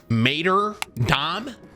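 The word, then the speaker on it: Martyrdom: Tim, it's Mater Dom.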